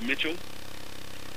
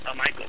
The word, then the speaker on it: Michael: Well, Coach, is it pronounced Mitchell? Michael.